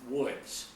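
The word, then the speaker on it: Łódź: largest city in Poland spelled lodz pronounced woods but that was all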